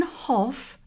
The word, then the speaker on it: Hough: the photograph to me, Brian Hoff, that's spelled Hough, 116 Fields Farm Road, Hyde, Cheshire, SK1 43NP.